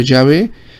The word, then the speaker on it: Yahvé: Y se pronunciaría para ello Yahvé y significaría eso.